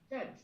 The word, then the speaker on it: church: Look at the phonics. Church. Yeah, perfect. Bella and Hannah. You guys have such great pronunciation already for your age. Ch, right? Not t. Ch.